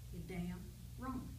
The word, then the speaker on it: Damron: that I saw and I didn't know whether he pronounced his name Dameron or Damron and he told me one day he said damn wrong and of course I